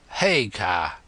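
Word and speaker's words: Haigha: His name is Hagar. He pronounced it so as to rhyme with mayor.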